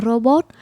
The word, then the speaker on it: robot: Nên mình vẫn phát âm chữ R là robot Giống như cà rốt Mình không nói là "dô-bốt" hay là "cà-dốt" Nha Rồi đó thì